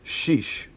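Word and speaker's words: شش: pinch next one for number six is sheesh like sheesh will he ever shut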